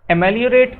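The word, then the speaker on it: ameliorate: आप लोगों ने एमेलियो, इमली प्रोनाउंसिएशन आ रहा है कि नहीं आ रहा है, राइम स्कीम में आ रहा होगा, इमली, एमेलियो, ठीक है।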